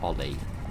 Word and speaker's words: Oli: I think it's pronounced Ollie, who is perhaps my little severed chap here.